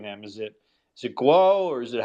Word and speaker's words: Guo: to be here so guwow guo or however you pronounce his name has been arrested well guo is how he's guo is how he said it okay just for I